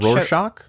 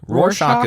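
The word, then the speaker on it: Rorschach: this correctly but the Roars scotch ink blot which Roarshock Roarshock is how they pronounce it in Roshock inkplot which shows up in the master coincidentally.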